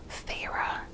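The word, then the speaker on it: Feyre: Thorns and Roses, follows Thera. So this is immediately where I got stuck, because Thera is spelled F-E-Y-R-E, and the way that I was first pronouncing it, in my head at least, was fairy.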